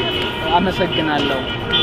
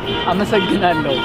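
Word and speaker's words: አመሰግናለሁ: Amasagnalo. One more time. Amasagnalo.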